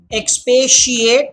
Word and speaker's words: expatiate: Expatiate. That T makes the sh sound.